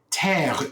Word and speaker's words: Terre: Terre, Terre, earth. Okay. Terre. Like terra firma.